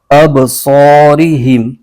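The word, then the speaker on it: أَبْصَارِهِمْ: ملا کر پڑھیں گے۔ اس کے ہجے یوں کریں گے، حمزہ با زبر اب، صاد الف زبر صا، اب صا، را زری، اب صاری، ہا میم زیر ہم، اب صارہم۔ اس کے آگے ہے،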